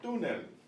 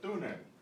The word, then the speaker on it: túnel: El túnel, el túnel. And what I said, without this accent mark, you would say túnel, but when you see an accent mark, you know you put the stress there.